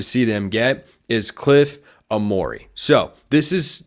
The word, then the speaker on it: Omoruyi: them get is Cliff Amore so this is this guy's name is spelled like Eugene Omari we all remember Bill